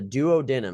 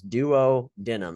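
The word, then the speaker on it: duodenum: like their sections okay the doo denim is how you say this Duo denim is how I say it Duo denim this is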